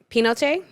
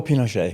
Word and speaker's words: Pinochet: myself because Andrew you'll tell me how to pronounce his name. Pinochet? Oh, Pinochet.